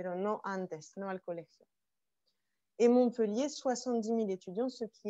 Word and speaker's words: Montpellier: précisément alors petite précision montpellier on ne prononce pas le thé attention non eux liés non